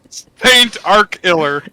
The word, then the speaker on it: Starkiller: It's ST like Saint. Right. Saint Arkiller.